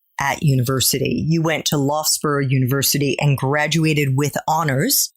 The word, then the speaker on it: Loughborough: It's Loughborough. Oh, Loughborough. It doesn't look like that at all.